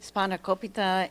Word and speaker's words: Spanakopita: Spanakopita, it's the stuffed, has stuffing with spinach and cheese in this pastry here.